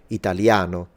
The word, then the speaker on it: Italiano: naturally goes in Italian like in the word Italiano where the stress is in a Italia no which is the penultimate with an a sound at the end you have been warned